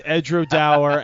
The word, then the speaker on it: Edradour: The tour guide said it's Edradour as in flower.